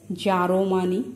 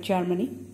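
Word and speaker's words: জার্মানি: So some may pronounce it as Jaromani instead of Germany, right?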